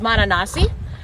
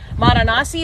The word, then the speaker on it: Mananasi: His name is Mananasi. Mananasi is spelled like bananas, but instead of the B, put an M and then add an I.